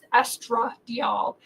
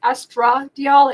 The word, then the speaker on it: estradiol: doctor's prescription this is estra diol um I'm I'm over pronouncing the a because estra deol and estriol they sound so much alike so estradiol is the